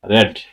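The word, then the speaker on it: read: প্রথমে প্রেজেন্ট ফর্মে থাকলে সেটাকে উচ্চারণ করব রিড, এরপরে পাস্ট ফর্ম অথবা পাস্ট পার্টিসিপলে থাকলে সেটাকে বলবো রেড, রিড, রেড, রেড।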